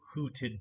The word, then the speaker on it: hooted: Hooted is also a long U sound. Fruit, hoot.